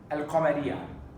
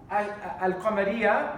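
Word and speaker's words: القمرية: Alif lam shamsiyya, alif lam al-qamariyya. What does it mean? It means that al-qamariyya, we pronounce the lam of the alif lam, al-qamariyya.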